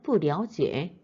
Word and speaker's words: 不了解: 이때 러자 뿌와 합치게 되면은 랴오로 발음이 됩니다. 다시요. 러는요. 뿌와 함께 오면은 랴오로 발음됩니다. 그래서 뿌랴오지에 그에 대해서 잘 모릅니다.